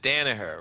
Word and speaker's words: Danaher: He was at Danaher, right? Is that how you pronounce it?